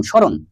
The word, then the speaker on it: স্মরণ: স্মরণ শব্দের শুদ্ধ উচ্চারণ হলো তালব্য শতে অবশ্যই হবে, কিন্তু এটা নাকের ভিতরে, অনেকটা নাকের ভিতরে দিলে উচ্চারণ করা লাগবে, সে কারণে স্মরণ। স্মরণ শব্দটা হবে এরকম, স্মরণ।